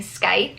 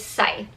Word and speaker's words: Scythe: I was saying Scythe, like S-K, I guess, but it's Scythe. So basically, the C is silent.